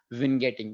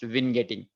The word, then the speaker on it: vignetting: the pronunciation i think the uk and u.s pronunciation for this is vin getting maybe that comes from word i don't know where it comes from that that's how it is pronounced vin getting okay so the reason for that is you